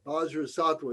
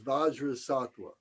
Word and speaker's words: Vajrasattva: Bajra Sattva is Vajra Sattva. So sometimes we would say Om Padmasambhava Sattva Samaya. We would replace the name Vajrasattva with another deity that is specific to the practice.